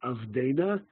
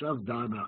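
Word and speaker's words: עבדנא: Nun in Avdana, because it's not Avdena, it's Avdana. Avdenu in Hebrew, Avdana in Aramaic.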